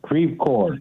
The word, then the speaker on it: Creve Coeur: How do you say your town? Creve Coeur? Creve Coeur. Creve Coeur. Yes.